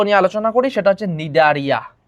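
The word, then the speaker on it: Cnidaria: এখানে সি এর উচ্চারণ হয় না, সি এর উচ্চারণ হয় না।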